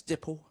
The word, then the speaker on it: Dipple: said, hi, my name's Dipple. And she looked at me and said, nipple? I said, no, it's like nipple, but it's spelt with a D.